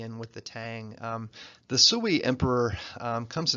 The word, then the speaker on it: Sui: a very brief Empire the Suey dynasty Sui at least that's what the lady on the youtubes tells me how to pronounce it anyway the Sui dynasty